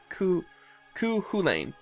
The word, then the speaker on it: Cú Chulainn: I'm already laying into cuca Lane so Keuka Lake ku ku ku Lane there we go ch is silent for some reason oh but I'm not